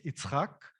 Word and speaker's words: Itzhak: and my co-founder's name so in hebrew it's itzhak which is isaac for you to make